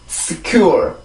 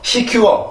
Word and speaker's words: secure: 절대로 secure 이렇게 발음을 하지 말고 그 S 발음의 특징 중에 하나가 우리나라에서는 시옷 발음이 이런 발음이 있으면 그냥 시 이렇게 읽는단 말이에요.